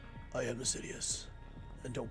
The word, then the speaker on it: Sidious: I am Sidious, and don't call me Shirley. I think of that every time I say the word Sidious, because it sounds like you're saying serious, just saying it wrong.